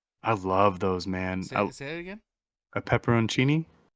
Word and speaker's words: pepperoncini: pretty big ones okay it's spelled pepperoncini but no one calls it that that's why would you call it that's that's what it's called it's called peppercini no one calls you